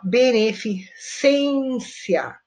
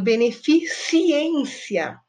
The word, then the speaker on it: beneficência: vamos ver aqui ó beneficência é o correto eu vejo muita gente falando beneficiência beneficiência não é ciência então você tá colocando